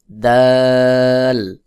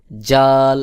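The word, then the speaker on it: ذال: হা, হা, হা, খ, খ, দাল, দাল, দাল পাতলা করে উচ্চারণ করতে হবে। দাল, এরপরে রয়েছে দাল। দাল যদি কেউ জাল এভাবে শক্ত বলে তাহলে এটা ভুল উচ্চারণ হবে। সহি উচ্চারণ হলো পাতলা করে জিহ্বার আগা সামনের উপরের দুই দাঁতের আগার সঙ্গে লাগাইয়া, অর্থাৎ এই থা এবং দাল একই জায়গা থেকে উচ্চারণ হয়।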